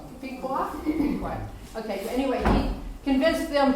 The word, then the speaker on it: Pequot: He became friends, he learned the Indian language and became friends with the Mohegans, the Incas, and the Picos, Mark, am I pronouncing that right? Pequot?